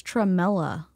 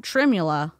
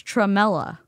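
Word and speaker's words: tremella: I don't know if she's saying I think it's tralla. It's not trimmula. It's tralla.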